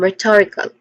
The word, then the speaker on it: rhetorical: When it comes to pronunciation, we start with r which is short e son and then stress syllables to and then followed by e short e son and k.